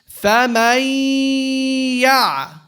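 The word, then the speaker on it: فَمَنْ يَعْمَلْ: How do I merge here? You drop the noon. You go from the meme fatha to the ya and you give it a nasalization.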